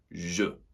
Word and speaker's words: je: focusing on that pronunciation so it doesn't sound like j'ai, je.